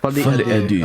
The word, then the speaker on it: Folie à Deux: Folie à Deux.